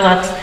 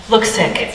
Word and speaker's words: Luksik: Lutz. Luksik. There we go. It's like an OO sound, but it's spelled with a U.